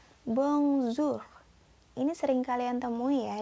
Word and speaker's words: bonjour: selalu lalu berikutnya ada kata Bong Zoo tulisannya Bonjour tapi kalian bacanya bongsu ini sering kalian temu